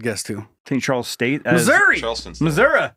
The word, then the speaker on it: Missouri: like Springfield uh Springfield Missoura well there's there's there's that good news that's how it's pronounced by the way Missour Missour yeah well I wouldn't